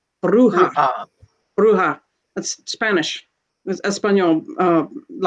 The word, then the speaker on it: bruja: american practices uh lee brought up a word that's spelled b-r-u-j-a bruja bruja that's spanish espanol uh you're causing some